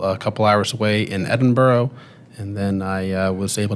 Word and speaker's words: Edinburgh: Well, we actually went to the place you're trying to pronounce is Edinburgh.